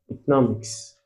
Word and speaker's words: economics: The correct option there would be B, economics. Economics. The word that has the same stress as education is economics.